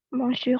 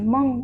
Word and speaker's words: monsieur: Monsieur Kahar. Tadi nggak mendengarkan ya ketika saya memberikan koreksi pada Arina. Bukan mong, tapi Monsieur. Monsieur. Monsieur. Nggak ada ngau-nya di sini ya.